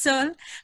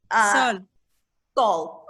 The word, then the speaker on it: Sol: My name is Sol, but my son was putting his name there. Don't worry. It's okay. What is your name? What is your name? Sol. Sol. Okay. So Sol. Sol. Yeah. Can you pronounce that for me, Lisa? Sol. S-O-L. S-O-L, Sol.